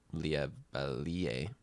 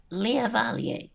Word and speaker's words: Lea Val: know as the uh Le oh your highness can I correct her now oh the correct pronunciation is Lea Val Lea Val is in